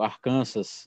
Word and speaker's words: Arkansas: Texas, Colorado, Novo México, Arkansas, ou Arkansas, como eles pronunciam aqui, Kansas e Louisiana.